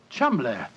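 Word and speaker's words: Cholmondeley: reason to know that the name chamble is in no way pronounced the way it is spelled but you I never thought of that chumbler that name spelled c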